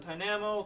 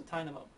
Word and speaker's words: Tynamo: about that or Tynamo why do I keep saying Tamo it's supposed to rhyme with Dynamo so Tynamo Ty we also get